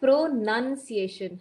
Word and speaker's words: pronunciation: you right you uh so it is actually pronunciation have you watched the movie none the nun no man no it's a Hollywood movie it's a horror movie right and there's a movie called The Nun n-u-n okay so same pronunciation we have to use here for this word it is pronunciation and not pronoun okay not pronunciation the word itself does not have a spelling noun yes right even in